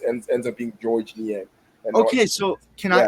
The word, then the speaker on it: Niang: him and he was like the the S is silent at the end of the name so it's ends up being George Nyang and Okay, so can I can I say